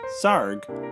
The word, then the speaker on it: Sarg: of anthony tony frederick sarg sarg rhymes with argh every little movement has